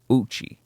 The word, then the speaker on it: Ouchi: that happened to Hisashi Ouchi, who is in Japan, which his last name is spelled sorry, I was about to say zero. I'm a fucking idiot. Ouchi, which is basically ouchie.